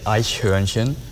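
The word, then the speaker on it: Eichhörnchen: it over there how do you go about pronouncing this daniel uh you would say i scherenchen yeah it's like you're not even formed so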